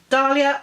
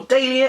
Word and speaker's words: Dahlia: on it, and that's James Ellroy's The Black Dahlia, or Dahlia if it's in the UK, and that's how we pronounce it.